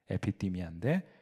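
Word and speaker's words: ἐπιθυμία: 그래서 제가 거기 사람의 정욕이라고 하는데도 그리스로를 적어놓 놨는데 에피디미아라고 읽어요. 에피띠미아인데 그것은 정욕이라고 번역합니다.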